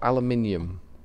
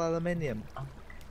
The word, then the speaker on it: aluminium: Well, they can spell it, they just can't pronounce it. No, it's spelled differently. Oh, well. There's no hope for them then. Yeah. They may as well just kill themselves. I don't really know how you can miss a whole syllable out.